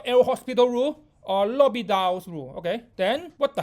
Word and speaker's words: l'hôpital: Okay, this is not el hospital. Comment prononcer le mot l'hôpital en français? Le H sont mute, donc c'est l'hôpital. Bonjour français.